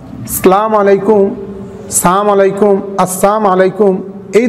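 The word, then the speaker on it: السلام عليكم: শুদ্ধভাবে অক্ষরগুলি উচ্চারণ করা বিশেষ করে সালামের প্রথম যে অক্ষরটি আছে হামজা এবং শেষের যে মিম অক্ষরটি আছে এগুলোর উচ্চারণ খুব সুস্পষ্টভাবে দেওয়ার চেষ্টা করা আসসালামু আলাইকুম আসসালামু আলাইকুম আসসালামু আলাইকুম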